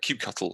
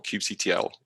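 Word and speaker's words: kubectl: with um uh cube cube cuddle or cube ctl pick your pronunciation um you know most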